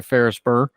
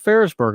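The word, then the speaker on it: Ferrisburgh: well done a couple of paintings done by ferrisburg are and by the way ferrisburg is spelled f e r r i s b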